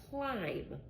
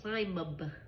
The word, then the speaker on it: climb: I don't say climb a B. Climb a B. I don't have the B sound. I just say here climb with just an M.